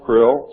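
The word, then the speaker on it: Krlll: name and title was his omnipotent highness krill pronounced krill spelled k-r-l-l-l or c-r-l-l-l in the american tradition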